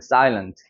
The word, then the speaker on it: silent: 여기 같은 경우는 여기가 이중모음이 적용되니까 어떻게 읽어요? silent가 되는 거예요. silent.